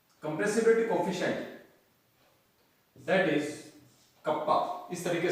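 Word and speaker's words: kappa: Hair यहां पर कप्पा, इसको अपन बोलते हैं कप्पा, इसको इट is pronounced as कप्पा, that is संपीड़ितता गुणांक, संपीड़ितता गुणांक।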